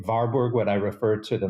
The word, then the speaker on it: Warburg: the director of something called the Warburg Institute w-a-r-b-u-r-g sometimes called The varberg Institute because it was